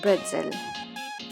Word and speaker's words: pretzel: So it is actually written as pretzel, but it is pronounced as bretzel.